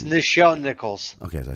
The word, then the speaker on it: Nichelle Nichols: I'm even saying it's Nichelle Nichols.